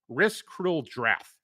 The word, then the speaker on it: Risk Cruel Drath: It's Risk Cruel Drath. So imagine Risk and then the word cruel, like ha, and then Drath.